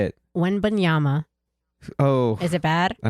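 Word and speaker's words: Wembanyama: past like year and a half say it when Bama oh is it bad I don't know it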